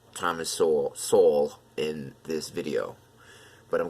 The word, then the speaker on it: Sowell: I always say Sowell, like soul.